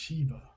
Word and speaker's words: Siva: Not wishing to borrow their devil from the Egyptians, the Brahmin priests invented one of their own and called him Siva, pronounced Shiva.